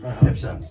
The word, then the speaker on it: Pepsin: So it's Pep. It's written Pepsin. Yeah. But it's called, it's pronounced Pepsin.